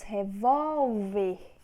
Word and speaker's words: revólver: Temos revólver. Volve é a sílaba tônica. Vol, então é paroxítona.